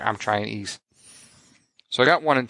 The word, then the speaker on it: Ys: how to pronounce it it's not Wise It's ease so I found that